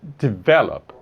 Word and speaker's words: develop: Esse aqui, develop, a pronúncia é develop. Então a sílaba tônica ali não é a última, tá? Você não fala develop, você não fala develop, você fala develop.